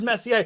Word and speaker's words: Messier: No, you've been saying Messier. One time you threw a Messier in there, but it is Messier.